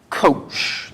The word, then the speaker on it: cosh: And it's pronounced verbally kosh, like short for kosher, maybe?